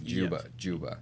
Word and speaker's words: Dziuba: uh I did not know that's how you pronounced it Yuba Juba yes yes wow very interesting polish okay very